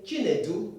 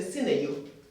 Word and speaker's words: Chinedu: Communication, anyhow you speak here, instead of saying Chinedu, you say Sineyu.